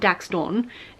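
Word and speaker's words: Daxtyn: So Daxton is his name, and it's spelled D-A-X-T-Y-N, not D-A-X-T-O-N. So it's not Daxton, it's not Daxton, it's Daxton.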